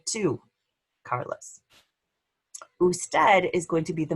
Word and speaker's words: usted: Even though it's abbreviated, you still pronounce the whole word usted.